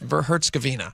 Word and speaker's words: Herzegovina: And it's just there's no I A at the end of the It's just Herzegovina.